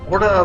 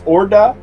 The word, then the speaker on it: Horda: but just for reference if they're using the spanish pronunciation it's orda and i'm pretty sure